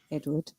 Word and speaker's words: Edward: saying it, you hear how it really is supposed to be said, Edward. Because you're hearing Americans always say it. Yeah, you're hearing that how the proper. They say it so incorrectly. They think it's spelled with an O.